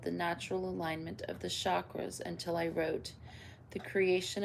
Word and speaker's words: chakra: In Sanskrit, the language of the ancient Indian seers who first identified these energy centers, the word chakra, pronounced chakra, means wheel or circle.